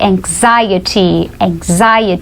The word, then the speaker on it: anxiety: embaixo do diarrhea é mais difícil ainda de pronunciar se você só olhar para ela, só tentar ler. A gente chama de anxiety, que é ansiedade, né? Ansiedade a gente diz anxiety, que é um outro problema comum.